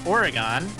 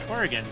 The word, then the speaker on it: Oregon: And you pronounced it like a true Oregonian would. Because oftentimes it's mispronounced as Oregon. But people native to the state actually pronounce it like you do. Oregon.